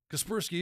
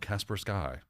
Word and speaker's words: Kaspersky: I would argue at this point, Kaspersky is an accepted form of Casper SK. And that looks more like how a Russian pronunciation of that word would look, and it's a Russian company.